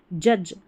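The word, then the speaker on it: judge: फिर यहां पर देखिए जज जज जे यू को यहां पर जे यू को ज पढ़ा और लास्ट में डी जी ई है। इसको ज पढ़ दिया।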